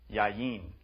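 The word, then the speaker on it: יין: understand why the Hebrew word for wine is pronounced yayin but this is only because of a general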